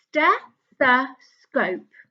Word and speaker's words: stethoscope: There's a clue as to how many syllables the word stethoscope has.